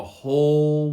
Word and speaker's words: whole: natural seven also with the w in whole is silent the whole world the whole world